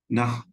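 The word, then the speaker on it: نحو: सर, ये मैंने नहु भी सुना है इसका प्रोनाउंसिएशन, और नह भी सुना है, नाफ। दोनों करेक्ट है? जी, नाफ कह लें इसको।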